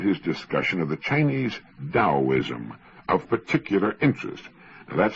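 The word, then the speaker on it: Taoism: I found his discussion of the Chinese Daoism of particular interest. That's spelled T A O I Sm and often mispronounced Teaoism.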